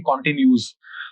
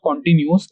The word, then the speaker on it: continuous: जो वर्ड है कॉन्टिन्यूअस, इसको नॉर्मली लोग गलत प्रोनाउंस करते हैं और इसको ऐसे प्रोनाउंस करते हैं कॉन्टिन्यूस। सो इट्स नॉट कॉन्टिन्यूअस, इट्स कॉन्टिन्यूअस।